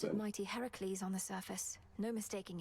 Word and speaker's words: Heracles: it introduced me to Heracles. correct pronunciation, not Hercules. That's a That's a mis translation.